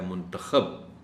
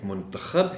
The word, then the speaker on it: منتخب: ابھی لفظ بولا ہے منتخب، اس لفظ کے بھی دو تلفظ ہیں، ایک منتخب ہے اور ایک منتخب ہے۔